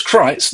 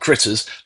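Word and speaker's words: Krites: A group of small carnivorous alien creatures known as Crites, not Critters, Crites, spelled with a K, that's confirmed in the original script, escape from an asteroid prison and crash land in rural Kansas.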